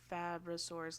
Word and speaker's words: Fabrosaurus: I'm like Fabrosaurus like fabricated like he's just making this up right now.